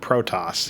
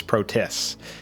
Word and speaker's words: Protoss: should mention that yes alderas doesn't know how to say the word protoss he says protis you know like the protis sniper that's like a meme